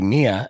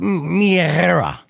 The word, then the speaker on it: Mia: But again, I say Mia, and that's not even how you say her name. But yeah, you could follow her if you could spell out Mistress Tentacle or Tackle Drum. I'll have her explain it. And it's true. It's Mia.